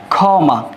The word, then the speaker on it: ক্ষমা: খ এর মত যেমন আমি যদি লিখি এখানে ক্ষমা যদি ক্ষমা লিখি এই ক এর উচ্চারণ হয়ে থাকবে সরাসরি এই খির উচ্চারণ হয়ে থাকবে সরাসরি খ এর মত এই উচ্চারণটা হবে এখন খমা এরকম আরো শব্দ আছে